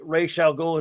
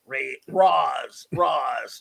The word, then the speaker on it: Ra's al Ghul: Clobby, at least voice actor Comic Conroy pronounced correctly Ra's al Ghul, and like, yeah. Well, Everyone did, but the stupid Nolan movie. Roz.